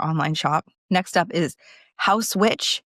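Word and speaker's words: Haus Witch: Next up is House Witch. It's spelled H A U S witch.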